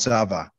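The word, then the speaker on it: צבא: spell it right uh that would be a va but it's really a bet it's called zava okay and yahweh's name is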